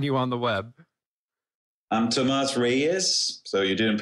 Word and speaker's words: Tomas Reyes: it but we have got none other then tomas rice which I'm totally mispronouncing but he'll fix it for me and